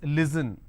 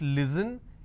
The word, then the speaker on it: listen: For example, if I have the word listen, they pronounce this as listen. It's not listen, it's listen.